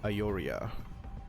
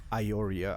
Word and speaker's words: Aiuria: check how the uh the second part of the name is pronounced like aoria I guess this is how you actually pronounce it so TVP what do